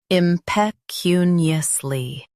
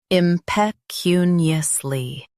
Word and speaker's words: impecuniously: impecuniously Now, read the syllables shown on the screen naturally. im p cu ni ous ly impecuniously Stress cu and keep ni light.